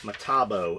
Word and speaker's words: Metabo: certain circumstances bomb calm Metabo pronounced Metabo is German fine grade kick-ass items